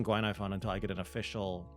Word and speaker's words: Guinaifen: patch Glenn iPhone I'm just gonna be saying Guinea fun until I get an official pronunciation um as I said four star character